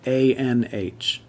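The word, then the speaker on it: anh: a little bit differently the nh also at the end of word also changes the a sound so if if the word ends in a-n-h similar to how the a-c-h is pronounced ike the a-n-h is pronounced ein so the word a-n-h an means older brother it means you or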